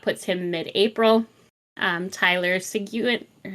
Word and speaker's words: Seguin: weeks so that puts him mid-april um Tyler Seguin say again there's no a it's pronounced Sagan I don't care put an